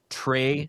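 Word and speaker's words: Trae: And uh the AI that enabled all of this was a coding agent known as Trey. Solo. So, it's spelled T R A E. So, Trey Solo in the word like solo, like Han Solo, speaking of Star Wars, right?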